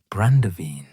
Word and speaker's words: brandewijn: The Dutch pronunciation, brandewijn, would gradually morph through English and French usage into brandy, a term that would eventually apply to all distilled wine, regardless of origin or quality.